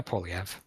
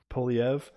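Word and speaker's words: Poilievre: The conservative guy, Yeah, Polyev. Poliev.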